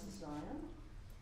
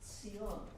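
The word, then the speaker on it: ציון: And it's a beloved word in Hebrew, mispronounced in English as Zion. Sion.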